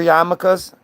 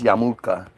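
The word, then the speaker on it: yarmulke: wear yamakas yamas we all say it wrong it's yamula that's how it's spelled that's not how it said that's how it's spelled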